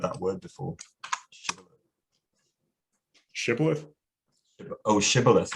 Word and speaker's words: shibboleth: become tha so they say say shibboleth the spies say sipulit so they know they're spies oh i see that's nice shibboleth it's a yeah a pronunciation that gives away your your local origin which you know we've